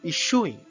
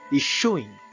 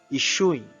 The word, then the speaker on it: issuing: I felt a faint smell of smoke five issuing it is spelled as I s as you it is pronounced anise is showing sure not so it is not is suing